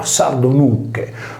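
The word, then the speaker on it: sardonyce: La sardonice riportata con sardonuce si leggeva sardonucche, dunque nuche sarda.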